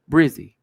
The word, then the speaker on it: Brzy: Oh, Brizzy. The person Brizzy, which is spelled Brzy.